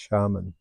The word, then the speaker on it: shaman: And the medicine person, male or female, was known as a shaman, S-A-M-A-N, but in the Tungus world it's pronounced shaman.